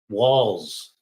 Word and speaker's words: Walz: Walz. Doesn't it sound like it should be spelled with 2 L's and an S? But it's not. It's spelled with 1 L and 1 Z.